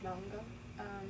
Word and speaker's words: manga: Oh, manga. It actually is spelled manga.